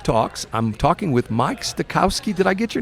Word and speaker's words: Stagoski: I'm talking with Mike Stagoski. Did I get your name correct? Stagoski. Stagoski? Stagoski. Spell that for me.